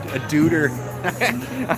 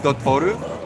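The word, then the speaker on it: Doutor: And now it's just, now there's just a duder. I always laugh at the name of that. It's pronounced Dotoru, but it just looks like duder.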